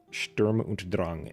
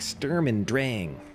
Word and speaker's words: Sturm und Drang: This Sturm und Drang is the correct pronunciation, but then in the live stream and everywhere else, they're like Sturm und Drang.